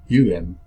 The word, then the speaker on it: Om: Chakra 1 is sometimes spelled OM, but phonetically it's UM.